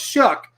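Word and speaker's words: Shough: year tyler shuck okay s-h-o-u-g-h pronounced shuck okay pic piss compete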